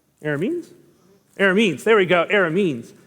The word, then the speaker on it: Arameans: Arameans. Arameans? Arameans. There we go. Arameans. I kept trying to put other syllables into it.